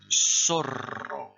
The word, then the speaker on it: zorro: répétez après moi soit vous répétez après moi sort alors le personnage de zorro lâché prononcer la française s'appelle comme ça parce qu'en